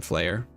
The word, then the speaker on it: Flare: Or Flare, not Flame, Flare. Oh my god, they're called Team Flare because of fashion. It's spelled F-L-A-R-E, but it's F-L-A-I-R. Alright.